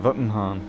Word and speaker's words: Wittenhahn: Oh, sorry, Karen Wittenhahn. I suppose it depends if you're in America, then you pronounce it as a W. If you're from other places, you pronounce it as a V.